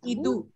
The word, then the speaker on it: idu: And this is idu. Idu. Idu. Yeah. There's no stress. So H is silent, ma'am, here, right? Yeah. Yeah. As Manjula ma'am said, because if we don't add that H, then you can call it idu.